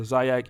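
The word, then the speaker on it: Xyax: he also has the zayak institute our x y a x is pronounced zayak um in brooklyn but he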